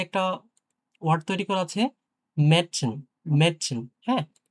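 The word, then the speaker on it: Mädchen: Word তৈরি করা আছে মেডসিন, মেডসিন, হ্যাঁ? এটা কিন্তু ম্যাডসেন হবে না, মাডসেনও হবে না, মেডসিন, হ্যাঁ? কিছুটা এর মতো উচ্চারণ হবে মেডসিন।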